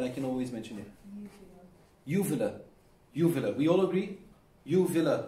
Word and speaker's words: uvula: So they are going past the Excuse me, can one person, just one, tell me the exact pronunciation so that I can always mention it? Uvula.